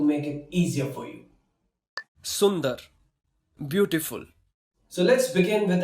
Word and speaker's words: सुंदर: I'm going to tell you how you can pronounce these hard words and don't worry, I'm going to make it easier for you. Sundar, beautiful. So let's begin with our first word, which is Sundar.